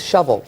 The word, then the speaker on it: Shelbyville: whoo is a lie they pronounce it and Shelbyville it's called its shovel like shovel right shovel they just Ram all